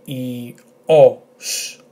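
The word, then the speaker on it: ήλιος: So the correct pronunciation will be E-O-S, with the emphasis on O.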